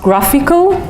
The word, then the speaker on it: GraphQL: this is called the it's written a grassy QL but it's pronounced graphical I don't know if